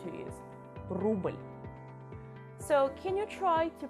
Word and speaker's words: рубль: The last sound for today is U, which you actually tend to pronounce like English E sound. So to learn this sound, let's get back to the patriotic examples. Рубль. Don't ever try to pronounce it like рубль.